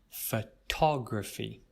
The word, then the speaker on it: photography: first cell bones photograph but with photography we stress the second syllable the tog sound photography for example he really